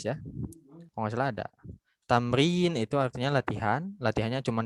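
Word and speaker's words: تمرين: Jadi nanti kalau baca jangan asal baca gitu. Jangan yang kayak gini itu dibacanya tamaroyana. Enggak gitu. Enggak, tamrin ya.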